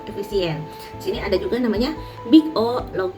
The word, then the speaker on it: big O: Nah, ini simbolnya adalah dibacanya big O n kuadrat ya.